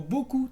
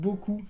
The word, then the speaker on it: beaucoup: Y también otra categoría que podemos encontrar es la combinación de las vocales y consonante O, U, P. Por ejemplo, lu, que es lobo, o ku, que es un golpe. Ku o beaucoup, también beaucoup, que es mucho.